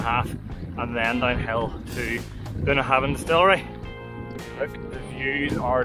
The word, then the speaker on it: Bunnahabhain: So we're going to go for a tour of Bunnahabhain, that's how you pronounce it, Bunnahabhain Distillery.